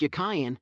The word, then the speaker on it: Jachin: tools in the column Jachin, and giving you the etymology and literal meaning of the 2 names. The word Jachin, in Hebrew, is y. It was probably pronounced Yakayan, and meant, as a